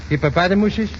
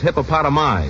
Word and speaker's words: hippopotami: And do you know how to pronounce the plural of hippopotamus? Hippopotamuses? No, I figured you'd miss that. The plural is hippopotami.